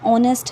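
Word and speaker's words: honest: सोनू से स्टार्ट है अब जैसे यह ऑनेस्ट है एच कुनैन स्टार्टेड बट जब आप इसे बोल रहे हो प्रोनाउंस कर रहे हो तो एप्स साइलेंट हो जाते हैं वहीं एच ओ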